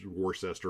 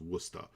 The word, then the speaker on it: Worcester: in wooster and it's pronounced despite despite that it's spelled war warcester or warchester it's pronounced worcester and uh sometimes when like i used to